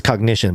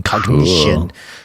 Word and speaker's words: Cognixion: I think it's cognition, but it's spelled with an X. COGNIXION, cognition, which uses re-engineered EEG